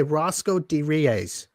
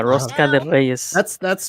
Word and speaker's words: rosca de Reyes: Okay, Roscoe de Reyes. That's rosca. Rosca. Okay, rosca de. You have to roll your R. Yeah, rosca de Reyes.